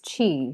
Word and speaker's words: Qi: what what disrupts somebody's Chi and Chi is spelled Qi so if anybody's seen that word it's they may not know how to pronounce it um before this but